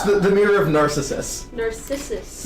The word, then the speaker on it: Narcissus: yeah, Narcissus. The mirror of Narcissus. Narcissus. Narcissus. Yeah. You're putting the emphasis Totally on the wrong different. syllable.